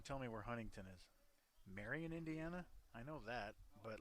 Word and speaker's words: Marion: Marion, Indiana? I know that, but like... Is Indiana Wesleyan in Marion? And then where's Marion? Like Mary Ann. It's not Mary On.